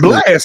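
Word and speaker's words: Blxst: It's spelled differently. It's not spelled like. It's okay. It's like with a dollar sign, right? BLX. Yep. ST. Yep. Hey, Coach, sing that song. Sing your favorite Blast song for us.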